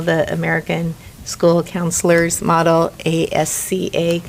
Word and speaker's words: ASCA: american school counselors model a s c a i always pronounce the c and the s backwards so asca and so so they